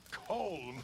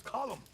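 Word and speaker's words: Colm: not you as well it's not col col it's column in Ireland we say column well uh he likes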